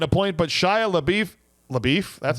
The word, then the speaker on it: LaBeouf: That means that not only is Ryan Mueller getting a point, but Shia LaBeouf LaBeouf, that's how you say his name.